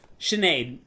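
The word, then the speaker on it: Sinéad: pronouncing it correctly? Yeah, no, Sinead O'Connor.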